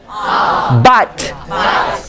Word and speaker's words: but: So the other one is but. But. But. You see, even U, it sounds like A.